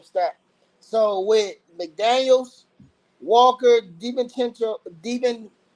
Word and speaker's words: DiVincenzo: So with McDaniels, Walker, DiVincenzo, how you say that? You call Chenzo, I think. Chenzo. I said it right.